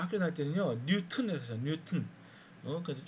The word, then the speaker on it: 뉴턴: 근데 실제 발음은요. 우리가 발음을 중시할 때는 그냥 이거를 돌튼, 뉴튼 그렇게 해야 돼요.